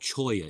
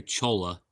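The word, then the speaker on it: cholla: I think it's called Choya, isn't it? It just come to me. I always say Chola, but I think it's pronounced Choya.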